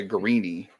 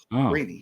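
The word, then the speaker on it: Greene: Green, it's pronounced Isaiah Greeny. The E is pronounced Greeny. Interesting. That's what the guy who played with him growing up, he told us. Okay, I will fix that. Isaiah Greeny.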